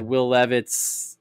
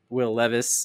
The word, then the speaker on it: Will Levis: surprise a lot of people um I had will levit will Levis excuse me say his name right there um